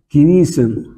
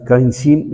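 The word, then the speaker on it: kinesin: بروتين يا شباب اسمه كينيسن كينيسن كينيسن، انطق صح، كينيسن كينيسن، في ناس بينطق كاينسين، المهم يعني اسمه كينيسن.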